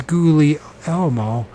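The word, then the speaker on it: Guglielmo: gly Elmo okay Gulu what happened to the second G just goo when forget I would pronounce it gug Li l l MO it's gouie Elmo Marone hope he doesn't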